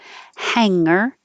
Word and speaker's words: hanger: And I do hear people say hung around, and that's the same as hanger, hang out. Most of the general English doesn't have the hard g in the middle, hanger.